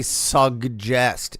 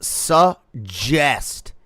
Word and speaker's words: suggest: Why am I hearing people say suggest? It's suggest. The double G is pronounced as a fucking J. It's not suggest.